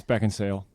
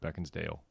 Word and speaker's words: Beckinsale: And it's Beckinsale. Just in case you're listening, Kate, I know how to say your name. There's controversy over how to say her name. Oh, she wrote something on Twitter before that said everybody thinks her name's Kate Beckinsdale, Oh, but it's not.